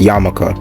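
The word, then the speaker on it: yarmulke: that I don't know if that's how you pronounced that word it says his attacker remained on the loose Wednesday of salaki it's yamaka that's what it is so yeah other than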